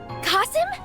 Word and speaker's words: Kasim: actually made it hello casim kasim oh that's how you say it so you got here